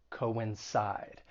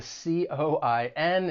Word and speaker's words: coincide: the same for pronunciation the verb has three syllables the stress is on that third syllable coincide and just keep in mind the c-o-i-n it's not pronounced as